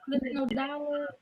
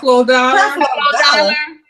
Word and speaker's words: Creflo Dollar: Clifton Dollar? Did I say it right? Oh my God. Creflo Dollar.